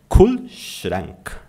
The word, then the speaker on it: Kühlschrank: Kühlschrank, Kühlschrank. Kühlschrank. Ou, com R na ponta da língua, Kühlschrank, né? Kühlschrank, tá?